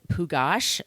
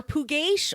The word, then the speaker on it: Pugash: creep is burton and pugash that is how you say his name or puget or pukash i've heard it announced many ways i'm going to go with pugash bert was born april 20th 1927.